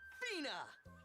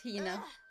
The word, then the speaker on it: Hina: And this young lady is my traveling companion, the esteemed archaeologist, Fina. It's Hina. You keep saying it wrong. It's Hina.